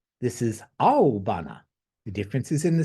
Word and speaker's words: aobana: This is aobana, blue flower. Excuse me, that's spelled Aobana, as opposed to indigo, which is aibana.